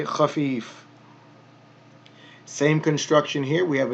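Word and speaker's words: خفيف: Same construction here. Khafif, khafif. So we have the kha with the fatha, kha, fa with the kasra, elongated, khafi, and then fun.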